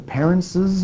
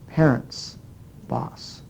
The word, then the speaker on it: parents': it's an S do we say do we pronounce this as the parents's boss where we hear the extra s or do we pronounce it as the parents boss well this is not correct we don't say